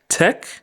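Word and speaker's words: tek: the word make and just like how we pronounce take Tech we pronounce make Mech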